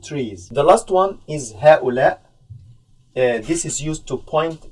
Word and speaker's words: هؤلاء: Okay, I know it's a little bit difficult because we have two hamzas here. It's pronounced هؤلاء.